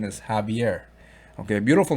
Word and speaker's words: Javier: talk about javier okay some people say he's javier but i believe it's heavier i got a friend from argentina and he corrected me saying the correct pronunciation is javier okay a beautiful name um there's a gentleman